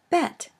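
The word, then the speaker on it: בית: The second letter is the Hebrew letter Bet. This is pronounced either B as in boy or V as in vector.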